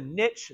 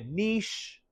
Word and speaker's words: niche: You don't pronounce the E, so you can't say like, oh, it's a niche.